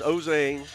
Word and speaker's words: Ozane: You got to get used to that name. It's not that's not pronounced how it looks. Gotcha. But it's Ozane.